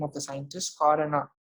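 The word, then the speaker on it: Khorana: It's the name of the scientist, Corona. You can pronounce it as Corona.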